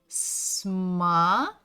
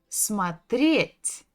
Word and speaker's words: смотреть: Next one is смотреть. Ударение на «е». Смотреть.